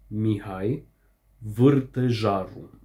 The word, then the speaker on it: Mihai Vârtejaru: So the pronunciation is Mihai Vârtejaru.